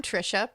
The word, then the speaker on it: Trisha: I'm Trisha, pronounced like Patricia but without the P.